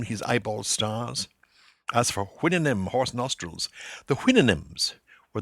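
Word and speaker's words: Houyhnhnm: As for hinnon, horse nostrils, the hinnon were the sentient horses in Swift's great book Goliver Travels.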